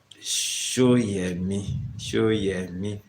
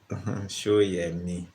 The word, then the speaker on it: Soyemi: So Shoyemi. That's the pronunciation. Not so. It's show, as in show. Shoyemi.